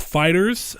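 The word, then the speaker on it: FighterZ: done the next one up is a Dragonball Fighters and that was confirmed remember Saul told you I was right that's how it's pronounced fighters not fighters II even though I'm sure that people are gonna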